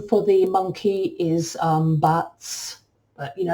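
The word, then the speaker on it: B'atz': for the monkey is buts you know everyone pronounces that differ differently but I just put out their bats if you have any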